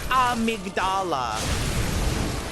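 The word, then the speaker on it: Amygdala: I remember how to fight Ahmed Dala. Well, it's not poison, but I'm pretty sure it's pronounced amigdala. You know what?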